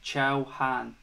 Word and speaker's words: Chauhan: bright future excuse me it's pronounced Chow Han so there you go